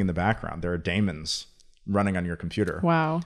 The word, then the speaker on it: daemon: stands for Bitcoin Damon a Daemon which is spelled d-a-e-m-o-n okay is really just a weird way of spelling demon and it's something that